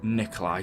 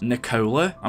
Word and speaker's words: Nikola: think he's referring to nikola tesla now actually his name is nikola I mean some people pronounce it Nikolai but Nikolai or Nikola